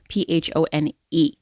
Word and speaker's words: phone: this on your phone p h o n e pH sounds like F when put together long o because e at the end of the word and we don't pronounce the E phone phonic whole language